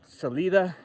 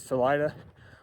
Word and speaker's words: Salida: All these Coloradoans here are illiterate or something. Celida is Salida. Buenav Vista is Buuna Vista.